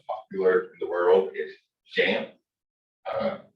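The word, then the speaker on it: XAMPP: in the world is jam uh we're gonna go ahead and pronounce the x with the zh sound and it's a local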